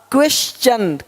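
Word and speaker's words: question: य आर आए तो टी का उच्चारण च होता है देखो यहां पे टी का क्या होगा च क्वेश्चन क्वेश्चन अब क्वेश्चन नहीं बोलते क्वेश्चन नहीं क्वेश्चन क्वेश्चन देख नेचर य पे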